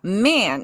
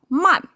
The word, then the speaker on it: 曼: No, man is English. I was kind of for a moment of flipped to my language gear. Um it should be man.